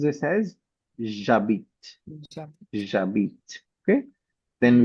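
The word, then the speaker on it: j'habite: So similarly, because H is also considered as a semi-vowel and it Okay. is also mute, right? It is also silent. Yeah. So we will pronounce this as jabit, Jab.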